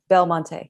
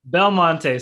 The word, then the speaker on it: Belmonte: Did I pronounce the last name? Belmonte. Belmonte.